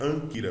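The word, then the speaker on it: ἄγκυρα: Anquira se pronuncia anquira, veja, tem dois gamas.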